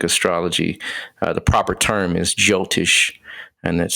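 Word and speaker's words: Jyotish: better words Vedic astrology the proper term is jiltish and that's spelled j-y-o-t-i-s-h and um in that science uh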